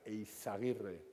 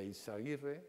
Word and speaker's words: Eizaguirre: EISA es la, como lo veis ahí, es, bueno, es Cristóbal Balenciaga, se llama Cristóbal Balenciaga Eizaguirre, con Z. En euskera la Z se pronuncia como la S castellana.